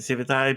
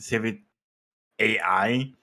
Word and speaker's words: Civitai: mean people call it Civ ey people call it civit AI people call it civit but but let's let's